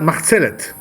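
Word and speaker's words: מחצלת: You know, in Hebrew we call that machzelet. This is the way we pronounce it in Hebrew.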